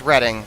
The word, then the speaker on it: Reading: mistake though is it i've never actually pronounced it reading railroad in my life it's it's reading i literally live near redding okay well then then